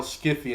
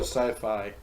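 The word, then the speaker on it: Syfy: to get recognition when people are calling your channel Skippy it's that sci-fi really calling it's kicking oh yeah SCIF I people are dumb and don't know how to pronounce things correctly it's like Skippy I know some of be rated films made me really think it was Skippy like there be rated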